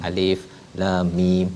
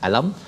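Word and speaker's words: الم: Alif lam mim bukan alam, tapi waktu jumpa surah Al-Fil kena baca alam lah.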